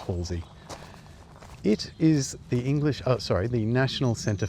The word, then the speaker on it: Halsway: This is Halsey Manor, spelt Halsway, but pronounced Halsey.